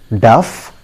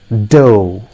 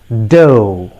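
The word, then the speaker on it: dough: we pronounce this word most of us pronounce it as duff dug blah blah blah but friends i tell you the correct pronunciation of this word is do it is do remember listen to me carefully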